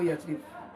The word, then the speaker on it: یثرب: لفظ یثرب بھی ہے۔ اس کو بہت سے لوگ یثرب بولتے ہیں، جبکہ اس کا صحیح تلفظ یثرب ہے۔ یہ لفظ قرآن شریف